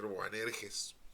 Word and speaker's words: Boanerges: dio el nombre de boanerges o banes bueno como quieran ustedes pronunciarlo no es una es una palabra media rara en español pues se puede leer buanerges buanerges los hijos del trueno